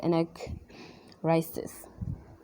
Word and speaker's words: anagnorisis: now and nor eyes this today the correct pronunciation of the word is a neck rises okay so no discovery and not we we